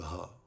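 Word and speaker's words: ح: La lettre Ha ressemble à la prononciation du H anglais du mot house, maison. Elle se prononce du plus bas de la gorge en cherchant de l'air depuis le cœur.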